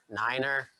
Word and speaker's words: nine: um that you could mispronounce if you just pronounce them regularly so three is commonly referred to as tree five is five nine niner and zero zero not o so don't say